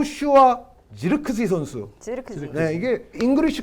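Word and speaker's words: Zirkzee: 살 2001년 5월 생 네덜란드 공격수 요 슈와 지르 크지 선수 이렇게 된다 이게 잉글리시 코멘트 l 발음을 이제 옮겨 드리면 절 크 스 이라고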